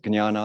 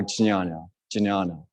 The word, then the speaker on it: Jnana: Some people pronounce it Jnana, that's why I got in a kerfuffle, or Jnana. Both, you know, it ranges. I've heard experts in the field say it both ways.